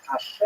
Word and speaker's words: Hashem: The word Hashem, of course, is pronounced with the letter H, but there is no letter H in the Russian alphabet.